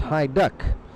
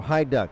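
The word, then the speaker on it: Hajduk: It's High Duck, Hijduk. Like I say, I've seen NHL players that with that UK pronounced as ook, but in this case it's duck, so High Duck.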